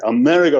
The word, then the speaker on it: Amerigo: the example here is how you pronounce it marigo here America America okay Amerigo resources a RG and it's a